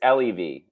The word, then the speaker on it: Lev: always butcher pronunciations but it's lev so lev or leave um think love my name is asher